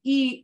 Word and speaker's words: y: 43 we just add e Uno e Dos Equis you're always saying it will always sound like the math yeah you're adding because that little word e spelled like with a y or in Spanish that's